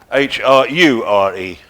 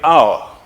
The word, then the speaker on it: hour: 1623, where we get H-O-U-R-E. So, if I want one syllable, I'm going to say hour.